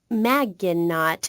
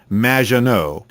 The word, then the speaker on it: Maggiano: have mispronounced my name it's Madge which rhymes with badge uh as in duh and no as in more than you Maggiano anyway thank you for